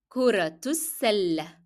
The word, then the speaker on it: كرة السلة: Notice the ta مربوطة in كرة, it is carrying dhamma. And because I'm going to connect it with the following word, I pronounce the ta مربوطة as in the sound of t, and I pronounce as well the short vowel dhamma. And it will be like كرة السلة.